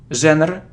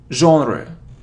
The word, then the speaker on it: genre: sound our it's half it isn't Jenner or genre its genre genre genre genre so yeah and